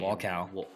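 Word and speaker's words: Wolkow: How do you pronounce his last name? Walcow.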